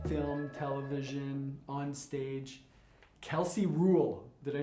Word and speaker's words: Ruhl: leader an actress film television on stage kelsey rule did i say that right yes okay kelsey rule kelsey rules yep that's right yeah i'm sure you got